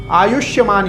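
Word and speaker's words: आयुष्मान: आयुष्यमान योग आयुष्यमान योग आयुष योग नहीं बहुत लोग आयुष योग कहते हैं इसको आयुष्यमान योग सौभाग्य योग उसके बाद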